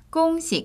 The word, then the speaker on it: 恭喜: 꽁시, 꽁시.